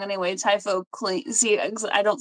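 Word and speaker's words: Typhochlaena: Typhoclina. See, I don't say my words out loud. So in my head, it was Typhoclania, but it's Typhoclina.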